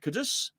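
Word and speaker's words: Kudus: is finished off with Muhammad kadus that's the right way I say it and Mel Antonio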